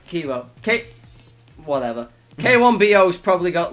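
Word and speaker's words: Kiibo: Keibu. Kibu. I will pronounce that right one day without your help. Yeah. It's Ki- K-E-E. Kibu's probably got Kibo. like Kibo. Kibo.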